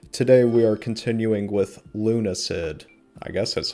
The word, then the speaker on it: Lunacid: Today, we are continuing with Lunacid. I guess that's how you pronounce it.